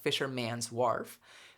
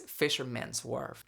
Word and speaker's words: Fisherman's Wharf: I'm pronouncing this very consciously because I used to mispronounce it in English. I used to say "Fishermæ:n's Wharf" but it's "Fishermən's Wharf."